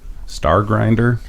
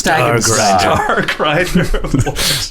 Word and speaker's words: Stagenstar: Are you Miss Star Grinder? Stag and Star. I get that a lot. No, it's Stagenstar. Agrit Stagenstar. I'm surprised a fellow dwarf wouldn't know how to pronounce a dwarven name.